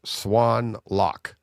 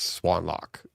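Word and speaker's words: Xuân Lộc: And he's like, it's so XUANLOC is pronounced Swan Lock. Okay. Swan as in the bird, and then lock as in LOCK. And he's like, it's Swan Lock.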